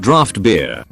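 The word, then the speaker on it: draught: Drought beer is pronounced draft beer.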